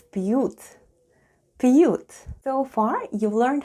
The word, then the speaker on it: пьют: Let's spell the word пьют. The first sound is P, then we have soft sign, and soft sign makes the preceding letter sound soft. So we have P, then we have U and T. And altogether it's пьют.